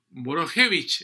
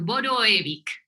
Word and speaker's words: Boroevic: la senadora Carolina Boich Borojevich. ¿Eso está bien pronunciado, senadora? ¿Cómo está usted? ¿Qué tal, Sergio? Boroevic. Borojevich. Ujú. Ah, la J se pronuncia como I. Es que esa J está de más, yo creo que vino de colada.